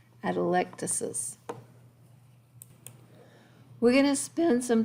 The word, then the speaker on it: atelectasis: actual collapsed lungs is called an adelectus electricity sorry i always want to leave that syllable out right there atelectasis we're going to spend